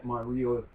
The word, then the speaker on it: Ryo: It's the Ryo I have a problem with. Ryo. Yeah, it's a cross between an R and L.